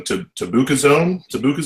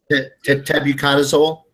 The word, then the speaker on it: tebuconazole: Tabucazole? Yeah, that's a triazole. Tebuconazole.